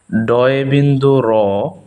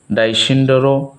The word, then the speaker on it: ড়: দন্ত স, হ, হ, ডয়ে বিন্দু র, ডয়ে বিন্দু র। এটাকে আমরা অনেকেই ভুল উচ্চারণ করি, ডাইসিন্ডার বা অন্য কিছু বলে থাকি, মূলত হচ্ছে এটার নাম ডয়ে বিন্দু র।